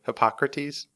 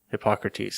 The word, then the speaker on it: Hippocrates: who said it but Hippocrates Hippocrates says ice pronounce it right I think so oh yeah yes I just want to say hypocrite when I see his name but yeah that's that's